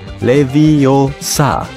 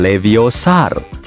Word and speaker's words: Leviosa: butuh bantuan Hei Siri yang benar Leviosa bukan leviosar aplikasi pengukur Apa alat